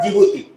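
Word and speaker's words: Djibouti: Eritrea, E for Ethiopia, D फॉर जिबूती, D silent है उसमें, clear हो गया।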